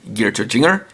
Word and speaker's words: GearTozinger: gear linger has been switched after one saying geared to jinger and yes it is spelled with a z for stylization purposes and